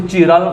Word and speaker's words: chiral: Asymmetry बहुत ही important है, इसके लिए हमें जानना होगा कायरल मॉलिक्यूल्स। कायरल मॉलिक्यूल्स, कई बच्चे इसको चिराल मॉलिक्यूल्स भी बोलते हैं। ओके, आप कोई भी नाम दो, स्पेलिंग एक ही लिखो, कायरल मॉलिक्यूल्स।